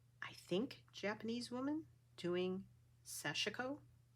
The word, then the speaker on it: sashiko: think Japanese woman doing sashiko I always called it sashiko but I've heard it pronounced seshiko and I think she pronounced it sashiko so I learned that